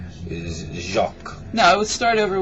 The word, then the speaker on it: Jacques: Is Jacques. No, I would start over with his name. Oh, yes. Okay. Yeah. This. No, not this. Say Jacques. Jacques.